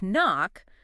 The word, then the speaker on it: knock: With knock, that K used to be pronounced, but over time we stopped saying it, but the spelling, it stayed the same.